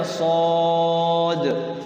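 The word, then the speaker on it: ص: Padahal dibacanya nun, sod dibacanya sod, qaf dibacanya qaf, toha dibacanya toha ya.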